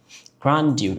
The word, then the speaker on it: grandeur: Grandeur. It's a C1 level of vocabs. Wow. That's fascinating. Grandia. Grandia. So the UK pronunciation is like grandeur.